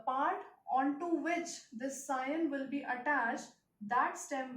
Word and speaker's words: scion: known as scion, is known as scion, spelling S-C-I-O-N, and it is pronounced as scion.